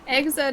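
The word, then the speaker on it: Xrd: Exert is spelled like X R D. So it's like third but with an X.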